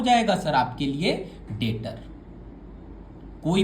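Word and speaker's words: debtor: आइए आराम से आप पहले आप लिखिए डेटर। भैया ये तो डेप्टर लिखा हुआ है भैया। नहीं बच्चा वो बी जो है वो साइलेंट है सर।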